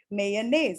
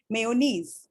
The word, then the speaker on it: mayonnaise: saying all these words mayonnaise and we do not say mayonnaise okay um just because there is i over here do you understand does